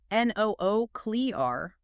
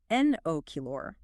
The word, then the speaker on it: nuclear: Do you say N-O-O-clear or N-O-kilor? It absolutely must be enochiara.